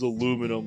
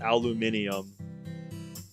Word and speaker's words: aluminium: Yep, the worst one though is aluminum. We call it aluminium. That one I know. Because I've heard people pronounce that differently quite a few times.